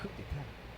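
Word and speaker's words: coup d'état: Coup d'etat é coup d'etat mesmo, tá? A pronúncia é uma expressão francesa que significa golpe de Estado.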